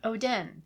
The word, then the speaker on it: Oden: Oden. Odin. That's why it's spelled differently.